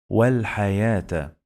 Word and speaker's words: والحياة: It's written like this, but we pronounce it like long vowel alif.